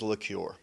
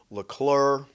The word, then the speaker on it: LaCure: My last name is LaCure. I've been called LeClure.